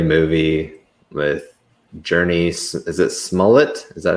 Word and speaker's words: Smollett: Is it Smollett? Is that how you pronounce her name?